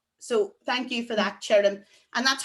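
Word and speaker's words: tirim: but the Irish word for dry, which is chirrim. And because it's followed by an I, it's a ch rather than the hard T of ta.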